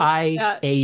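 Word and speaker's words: Fiadh: Thea, or, damn it, it's Irish and I can't remember. I literally wrote down the pronunciation and I can't find it. What is it? Let me help. F-I-A-D-H.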